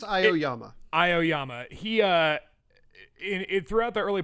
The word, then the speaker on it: Aoyama: And even with Iommi, I can't pronounce his name, the dude, I think it's Aoyama.